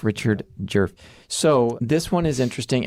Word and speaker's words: Djerf: But in doing the research for this case I learned that that D is silent. It's jerf. Not a lot of vowels. No, she's got the one jerf. Richard jerf.